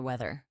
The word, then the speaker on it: weather: Notice the th sound. Put your tongue gently between your teeth. Weather.